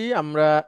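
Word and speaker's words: عمرو: উচ্চারণ যদি বলেন এখন একটা নাম আছে আমর স্বরে আ ম র আমর ওমর এবং আমরের বানানটা একই পার্থক্য হচ্ছে উমারুতে কোন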